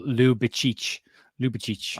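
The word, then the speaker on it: Ljubičić: So one pronunciation I saw this morning was Ljubicic, but it's also, someone else has now just told me that it's pronounced like Lou, as in Lucy Lou. So Ljubicic. Okay. So, Ljubicic.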